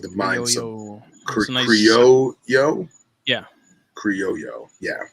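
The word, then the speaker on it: criollo: like the mind so creole yo yeah yo yo yeah c-r-i-o-l-l-o when you put two l's together in spanish that's a yo sound so here we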